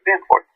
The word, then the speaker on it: Danforth: Danforth.